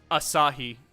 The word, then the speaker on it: Asahi: How did you say it was pronounced? Oh, Asahi.